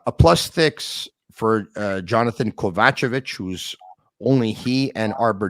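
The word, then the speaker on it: Kovacevic: his name correctly everyone who pronounces his name kovich is actually pronouncing it incorrectly kovachevich is the right pronunciation thank you very much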